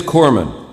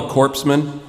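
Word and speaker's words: corpsman: Okay, it it is it is Corman. You don't pronounce the S. Yeah. I mean, it's not very good for a guy delivering first aid to be called a corpseman.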